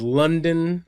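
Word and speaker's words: Lunden: unto her so uh her name is London not spelled the way the city is spelled l-u-n-d-e-n uh but London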